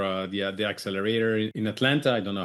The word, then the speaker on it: Atlanta: We say Atlanta. If you're from Atlanta, you say Atlanta. Like there that second T isn't there. It's just Atlanta.